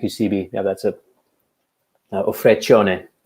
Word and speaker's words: Vacheron: Vacheron, that's how you pronounce it.